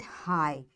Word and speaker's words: high: So we'll say it high. This G will not be pronounced.